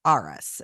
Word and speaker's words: Arras: in downtown Asheville which was the kton hotel arus that's spelled a r r a s we absolutely